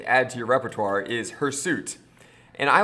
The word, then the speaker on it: hirsute: It's hirsute. And just like I mispronounced Fatima's name, we can mispronounce hairsuit and call it hirsute, and now we know a new vocabulary word.